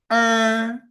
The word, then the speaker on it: 儿: However, if the become the coda, then the pronunciation just like the English R.